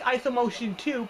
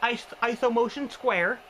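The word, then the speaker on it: IsoMotion²: They call it ISO motion square, which looks like ISO motion 2, but it's pronounced ISO motion square.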